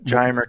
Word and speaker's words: Giomer: Yes, Geimer chemistry. That's how I pronounce it. Yeah, I think it's spelled Giomer.